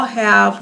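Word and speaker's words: ὁ: And rough breathing has the h sound. The way that you pronounce this word is ha.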